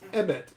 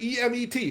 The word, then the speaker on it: emet: The Hebrew word for truth, which is emet.